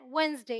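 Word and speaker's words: Wednesday: है जैसे यहां पर यह है वेनसडे यहां पर डी साइलेंट है यह हैंडसम मैंने बताया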